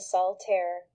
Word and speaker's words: Soltaire: El dúo detrás de la marca de cosplay Soltaire Cosplay se pronuncia Soltaire, dos syllabas. No confundir con el juego de cartas solitario.